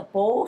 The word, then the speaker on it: bow: is a bow stance the B stance is spelled b o w for those of you who have asked me and I've have not clarified it so you know the bow and a bow and arrow the bow is curved